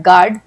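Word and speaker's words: guard: silent है जैसे कि जी यू ए आर्ड गार्ड बी ए L balm P ए एल M palm इन सब में एल जो है वो साइलेंट है गार्ड में यू साइलेंट है एल बाम में हम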